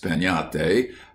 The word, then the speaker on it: piñata: But everywhere, children would be talking about breaking a piñata, pronounced piñate, as you talk of having a tree.